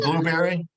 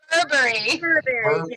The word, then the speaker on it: Burberry: But if it's is it Blueberry? It's Burberry. Burberry. I don't It's know. actually pronounced Burberry, darling.